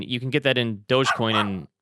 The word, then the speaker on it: Dogecoin: Doge, by the way, it's obviously dog e-coin, right? It's an e-coin. It's dog e-coin.